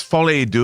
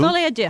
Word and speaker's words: Folie à Deux: It's Folie à Deux. Folie à Deux.